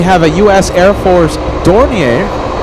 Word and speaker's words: Dornier: Air Force Dornier. Dornier? Is that how you say it? Dornier? Dornier?